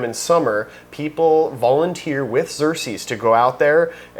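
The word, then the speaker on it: Xerces: Xer. Yeah, you you pronounced that correctly.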